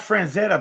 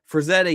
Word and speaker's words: Frazetta: Nice Franzetta poster, he said. Frazetta, yeah.